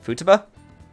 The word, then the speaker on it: Futaba: I always flip-flop between how I want to say her name. I'm not gonna lie. I mean, I guess the technical pronunciation that would be correct is Futaba. I guess it just depends if you elongate it a little bit more than usual.